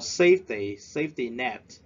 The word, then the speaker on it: safety net: Number 4, safety net. We stress at the first syllable.